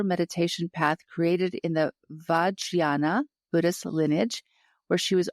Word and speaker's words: Vajrayana: Yeah, I'll have to ask you how to pronounce Vajrayana sometime. Oh, yeah. Is that, did I say, how bad was I? Vajrayana. Okay. It was close enough.